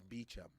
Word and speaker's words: Beecham: been crucifying it so how should we pronounce your name is bicham b-e-e-c-h-a-m like yeah spell it